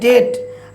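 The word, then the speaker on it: debt: ডেট আমরা কখনোই বি এর উচ্চারণ করবো না।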